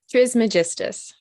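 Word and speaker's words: Trismegistus: Trismagist.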